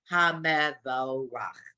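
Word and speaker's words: המבורך: Baruchu et Adonai Hamvorach. And we do know it's Hamevorach. So again, so in this line, the two Shavas kind of got their own syllable.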